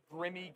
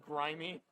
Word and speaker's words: grimy: I called it Grimmy Guam instead of grimy.